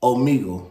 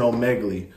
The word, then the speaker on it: Omegle: Your camera's a Omegle. Okay, that's how you pronounce it. I'm saying Omegle.